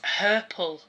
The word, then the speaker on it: herple: And then another word that rhymes with purple is herple, and that's a Scottish word for cramp.